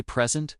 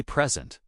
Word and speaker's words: present: Take the word p r s i n t. If I say present with the stress on the first syllable, it's a noun, a gift. If I say present with the stress on the second syllable, it's a verb to give something. Same spelling, different stress, totally different meaning.